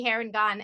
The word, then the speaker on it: Harengon: i heard the actual name was gonna be hair and gone and there is a pronunciation guide in the front of the book